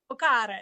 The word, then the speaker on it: Boccara: Boccara, it's French. Boccara, okay. Has got to be said with more zest.